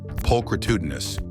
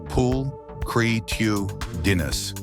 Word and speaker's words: pulchritudinous: of the most fun to say words ever pulchritudinous pronounced p creus and no it's not a tongue twister it